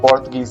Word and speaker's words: Portuguese: बेटा पुर्तगाली की स्पेलिंग ये होती है PORTUGUESE, पोर्तुगीज बोलते हैं इसको, है ना।